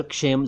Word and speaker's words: क्षेम: हूं एक शब्द का क्षेम क्षेम नहीं शेम नहीं क्षेम क्षेम कषेम नहीं क्षेम यानी क से बोलना शुरू कीजिए और शेम बोल दीजिए क्षेम इसका मतलब है